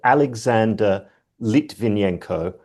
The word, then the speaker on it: Alexander Litvinenko: So as a sidebar, I mispronounced his name. It was Alexander Litvinenko, who was poisoned in 2006 with polonium-210.